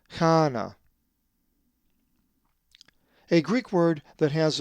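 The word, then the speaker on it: Κανά: So this word is pronounced kana.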